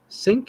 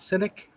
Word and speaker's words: cynic: Cynic. yeah. Cynic. Cynic. There's two I sounds in the word.